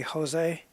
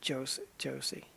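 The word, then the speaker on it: José: See I think in Spanish that the J is pronounced like a H. So it' be Jose. And in in Brazil where they speak Portuguese it's pronounced like a J. So it' be Josie, I think.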